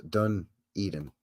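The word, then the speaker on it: Dunedin: don okay thank you done Eden pronounced pronounced dun Eden thank you okay thank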